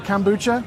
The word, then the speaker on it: kombucha: If you guys want to come down and get your kombucha, is that how I said it? Kombucha?